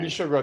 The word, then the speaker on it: Michel Gros: Michel Gros. That's what I said. No, I wasn't actually correcting you. You did pronounce that fine.